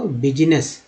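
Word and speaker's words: business: व्यवसाय को बिजनेस, बिजनेस, बिजनेस। एस को यहाँ पर जो है ज का उच्चारण के रूप में हुआ, ई डबल एस एस हो गया बिजनेस।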